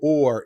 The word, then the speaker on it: Oher: and the family is I pronounce it Michael Orr even though if you look up his name o-h-e-r it sounds like it should be her no that doesn't seem